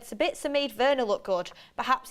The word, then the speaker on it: Sabitzer: Austrian and I think sabitsa would be a great signing for us but please pronounce him sabitsa and not sabitsa you're great sabitsa his